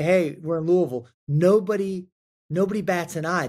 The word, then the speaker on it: Louisville: do you pronounce it say it like you've just swallowed the bourbon uh and it's Louisville Louisville Louisville Louisville that's how